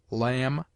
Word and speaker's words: lamb: It is mute in det, debtor, subtle, doubt, lamb, limb, dumb, thumb, climb, comb, womb.